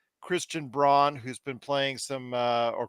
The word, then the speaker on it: Braun: You know, they've got Bruce Brown, Christian Braun, who's been playing some, or Christian Brown. It's spelled Braun, but it's actually Braun.